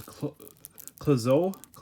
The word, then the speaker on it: Clouzot: But this director is one of my favorite directors, Henry Georges Clouzot. I think the T is silent.